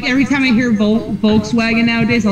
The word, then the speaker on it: Volkswagen: With a W, then it said like a V. Yeah. Yeah, that's why I'm like, every time I hear Volkswagen nowadays, I like to say it's Volkswagen.